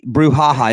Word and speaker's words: brouhaha: Brouhaha. Is it Brewhaha? It's actually Brouhaha. So there's two HAs. So ha ha at the end, not ha ha ha.